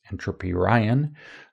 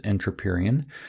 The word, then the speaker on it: Entropyrian: You might think it's Entropy Ryan, but not with a Y in the Ryan part, but it is Entropyrian.